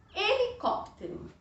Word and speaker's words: helicóptero: A sílaba mais longa é a sílaba que a gente vai acentuar. É onde vai o acento, tá bom? Então, helicóptero. Então, o acento vai aqui no có.